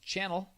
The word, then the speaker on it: Chanel: the 2.55 the correct answer is chanel sometimes pronounced channel apparently you could